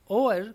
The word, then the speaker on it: hour: होवर, एट द 11th ओवर का हमें क्या बताना है, ईडियम बताना है। देखिए यहाँ पर होवर को हम होवर ना बोलकर ओवर बोलें क्योंकि एच इसमें साइलेंट है, तो ओवर होगा ये, एट द 11th ओवर।